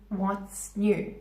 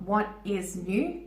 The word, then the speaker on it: what's new: The phrase, again, pronunciation, what's new? What's new? There's no pause. It's not what is new. Doesn't sound natural.